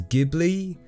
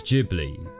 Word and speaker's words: Ghibli: a soft G and the Japanese themselves also pronounce it with a soft G so I guess technically it is Ghibli but to be honest